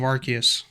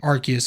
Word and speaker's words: Arceus: to not pull the trigger, is Legends of Arceus. Is it just Legend Yes. Arceus or is it Legend of Arceus?